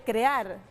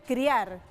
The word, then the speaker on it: crear: A ver, siempre que habla de crear dice criar. Es una pronunciación entonces ahí enredada entre la y la e.